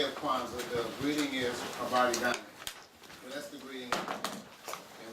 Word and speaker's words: Habari Gani: So to each other, when we're in a community that celebrates Kwanzaa, it is Habari Gani. Pronounce that with me, Habari.